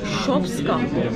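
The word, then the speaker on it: Шопска: Ve burada şopska. Öyle okunuyor yani.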